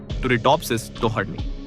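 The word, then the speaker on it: Turritopsis dohrnii: समुद्र की गहराइयों में रहने वाली टुरिटोप्सिस टोहर्नी उच्चारण टुरिटोप्सिस टोहर्नी।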